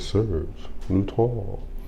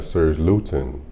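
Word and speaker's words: Serge Lutens: say it like that Serge Lon cuz if you got to Serge gluten you might got gluten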